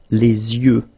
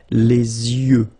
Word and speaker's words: yeux: Okay, so l'œil, singular, and then the plural, les yeux. Okay, you make this liaison between the two. Les yeux. Okay, final X not pronounced.